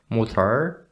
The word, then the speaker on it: Mutter: For example, the word Mutter is ended with the letter R, but it's not going to be pronounced Mutter, but Mutter.